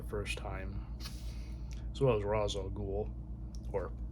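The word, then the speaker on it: Ra's al Ghul: screen for the first time as well as Rozal Ghoul or Ray Shel Ghoul if you want to be uh very accurate to the comic pronunciation.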